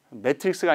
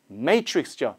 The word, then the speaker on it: Matrix: 매트릭스가 아니라 Matrix죠.